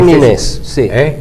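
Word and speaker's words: Næss: noruego noruego arne naes Cómo se escribe eso huela n a e s s es nes te dice no na es la a no se pronuncia en sueco parece que no en noruego Y ustedes saben vos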